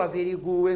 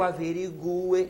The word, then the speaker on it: averigue: então Ó que eu averigue e não que eu averigue que eu averigue que tu averigues que ele averigue que vocês notaram o u é pronunciado porém é tônico é tônico eu sou obrigado a botar